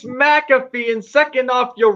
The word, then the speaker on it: McAfee: first off, it's McAfee, and second off, you're wrong on the name. It's You wrong.